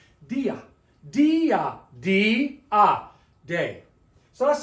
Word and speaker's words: día: But the word day has an accent mark, so it separates the 2 vowels into 2 separate sounds. Dia, dia, dia, day.